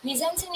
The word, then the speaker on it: mise-en-scène: So, mise-en-scene is pronounced as a mise-en-scene, is a French term literally meaning placing on stage.